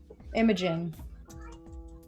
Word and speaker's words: Imogen: Alex, I don't want to pronounce your character's name wrong. Imogen. Thanks.